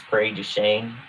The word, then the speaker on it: Prairie du Chien: Up here in Wisconsin, no, Ryan, you did not say this correctly. It's Prairie du Chien. Prairie du Chien.